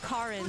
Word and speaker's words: Karin: It's called Karin, so it's spelled K-A-R-I-N.